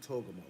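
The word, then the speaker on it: Togarmah: and Repath, and Togamo, or Togarma, but they pronounce it Togamo, right?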